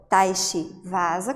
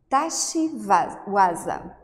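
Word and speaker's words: tachi-waza: falei, só que ele também recebe uma pronúncia diferenciada. Então, para aqueles professores mais tradicionais que seguem essa linha oriental japonesa, a pronúncia vai para o Waza. Então, Tashi Waza, Tashi Waza.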